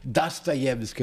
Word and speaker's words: Dostoiévski: Que é a primeira frase de Memórias do Subsolo do Dostoiévski, assim que se pronuncia em russo, não é?